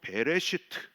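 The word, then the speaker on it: בראשית: 여러분, 이 태초에는 히브리어로 베레시트 이렇게 발음을 합니다.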